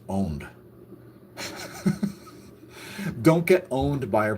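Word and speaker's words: pwned: And by the way, if you see the word owned spelled with a P, it's not pronounced poned. It's still pronounced owned.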